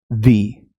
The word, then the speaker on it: the: रहा है AEIOU से, अगर इन साउंड्स वावल साउंड से चालू हो रहा है तो आप उसको प्रोनाउंस करेंगे दी। ये द बन जाएगा दी में। ऐसे लॉन्ग ई हम बोलेंगे वी।